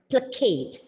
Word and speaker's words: placate: words to make somebody the stress is given on the second word as it is a verb and you pronounce the word as placate the second word give